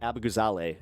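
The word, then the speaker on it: Abughazaleh: We are talking about Cat Abugala or Cat Abugale is actually how you pronounce it. Um at least that's what she told me.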